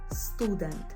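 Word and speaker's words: student: слово - це студент зверни увагу що наголос падає на у studen якщо студентів є багато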